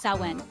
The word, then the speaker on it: Samhain: The Celts celebrated Samhain, pronounced Samhain, marking the end of the harvest.